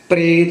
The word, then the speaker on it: प्रेत: मरी गाज पन्ना 276 प्रेत पपेन लाम रारा बोली जाएगी प्रेत बनेगा दूसरा शब्द मरी गाच